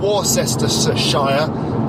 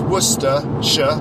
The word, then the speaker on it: Worcestershire: er Shi ar e and it's pronounced not or sesterce a Shia but pronounce Worcestershire Worcestershire and the capital the main city in